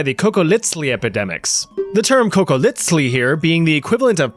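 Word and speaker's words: cocoliztli: If you've watched my video about surviving the Aztec Empire, you know that that funny little TL pronunciation, the sound, is on purpose.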